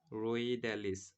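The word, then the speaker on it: Rhoeadales: এরপরে দেখো খাইয়ে তাকে রোদে, রোদ থেকে হচ্ছে দেখো রো রোইড্যালিস, রোইড্যালিস, রোদে থেকে হচ্ছে রোইড্যালিস। এটা কিন্তু এইচ এর উচ্চারণটা হবে না, ঠিক আছে? রোইড্যালিস হবে।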